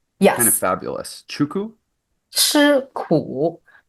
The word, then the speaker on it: 吃苦: Chuku? 吃苦. It's, how would you spell it in English?